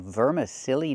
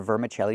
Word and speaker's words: vermicelli: vermiche- vermicelli These are vermicelli noodles. They're very thin. Not vermicelli, but vermicelli. Let's practice.